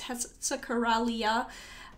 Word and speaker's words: Hexacoralla: My pronunciation is wrong. It's Hexacoralla.